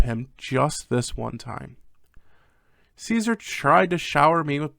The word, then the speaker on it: Caesar: to how they pronounce Caesar's name it is Caesar not kaizar you dumb shits learn your Roman history it wasn't Julius kaisar it was Julius Caesar God but anyway Caesar